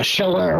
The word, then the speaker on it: Chaleur: How do you how do you pronounce it? Is it Shaler the what the what the team goes by? Yeah, Sheller, which is that's that area is called the Bay of Sheller.